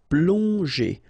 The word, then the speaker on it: plonger: And then G and E, normally that's the sound J. Okay, so here you get obviously as usual the ending ER, so you pronounce it E. So plonger.